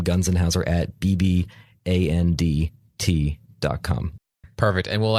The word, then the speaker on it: Gunzenhauser: Yeah, it's Gunzenhauser. Gunzenhauser. So if you break it up into 3 letters each, it's actually a lot easier.